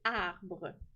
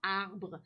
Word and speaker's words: arbre: Des fois, hein, il y en a qui oublient le E qui est muet, hein, qu'on ne prononce pas.